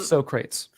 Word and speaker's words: Socrates: agree with you aya i love socrates um that's the correct pronunciation this right here um